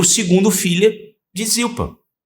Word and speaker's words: Zilpa: E é o segundo filho de Zilpa. Ou Zirpá na pronúncia.